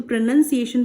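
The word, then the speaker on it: pronunciation: तो प्रोनाउंसिएशन बोलते हैं, इसे प्रोनाउंसिएशन नहीं बोलते, नन, ये NUN, you make the sound इसीलिए नन बोलेंगे इसे, प्रोनाउंसिएशन।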